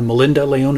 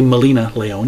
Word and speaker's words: Milena Leone: noticed after the fact I called her Melinda Lyon it's actually milena Leone you can see there is no D in her name but